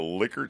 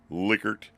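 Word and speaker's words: Likert: a lot and it's official name is the liquer scale I believe the guy was German that invented it and that's the way it's pronounced liquer again you've seen these a lot so this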